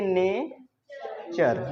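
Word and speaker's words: nature: बार में आ जाएगा कभी भी ट के बाद अगर यू आर ई दिख जाए तो तुम इसको च पढ़ लेना क्या पढ़ लेना च फॉर एग्जांपल जैसे एन ए टी यू आर ई इसको पढ़ेंगे ने चर नेचर जैसे नेचर मतलब प्रकृति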